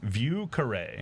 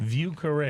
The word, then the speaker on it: Vieux Carré: So, pronounce it for me again. Vieux Carré. Vieux Carré.